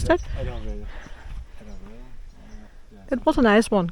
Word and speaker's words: Adavale: Adavale. How do you pronounce that? Adavale.